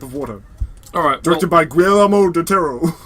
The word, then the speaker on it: Guillermo: Directed by Guillermo del Toro. How do you say his name? It's Guillermo.